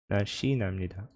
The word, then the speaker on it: 날씬합니다: So there is no H sound here. 날씬합니다.